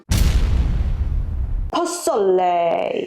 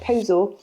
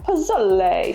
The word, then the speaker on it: Pozole: to admit that for the past year I've been calling it posal. Posal is Yeah, pronunciations are are catching us out quite a bit. Yeah. When you said it earlier, you sounded quite Italian. I went Pozole, but it's Mexican.